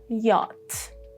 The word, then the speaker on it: yacht: And the last one, yacht. Yacht. Do you know any other rule for silent letters or any other word with unpronounced letters?